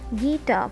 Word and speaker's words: guitar: Guitar. First one is guitar. So tar is louder than gi, and the second one is to sleep, where sleep is louder than to.